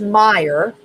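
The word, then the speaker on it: Mayer: So, even though it's pronounced Meyer, it has an A in it.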